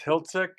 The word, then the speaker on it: Hilzik: and and the the proper pronunciation of your name is Hiltik, correct?